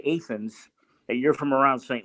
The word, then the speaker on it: Athens: t h NS Athens like Georgia but it's pronounced aens back here and he said what Terry I don't remember you at all but I do know if you say aens that you're from around St leis there you